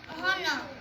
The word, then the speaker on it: honor: honor. Honor नहीं, honor. Honor. H is silent.